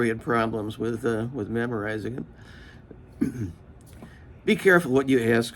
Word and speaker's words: Ai: It was Ai. I've heard people pronounce it sometimes just I. That's the correct pronunciation for the diphthong, but I'll use Ai because a lot of people identify that better.